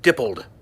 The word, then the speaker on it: Dippold: Okay, it's pronounced Feig and Dippold.